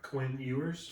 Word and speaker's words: Quinn Ewers: Quinn Ewers. Quinn Ewers, who was an Ohio State transfer, correct?